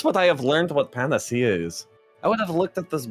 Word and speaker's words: panacea: It's pronounced panacea.